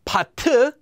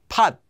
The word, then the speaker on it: 받: It doesn't become pat, just pat.